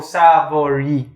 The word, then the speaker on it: Savory: his face but it's pronounced as s-a-v-o-r-e-e so savory jesus christ mind blown